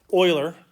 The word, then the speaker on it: Euler: All right, you got this guy, Euler. That's how he pronounces his name.